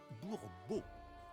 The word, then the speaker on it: Bourbeau: L'accent se place sur la dernière syllabe, Bourbeau.